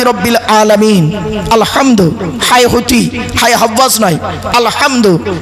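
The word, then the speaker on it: الحمد: আলামিন আলহামদু হব নয় আলহামদু গলার ভিতর থেকে উচ্চারণ করবেন আলহামদুলিল্লাহ মানে হচ্ছে সমস্ত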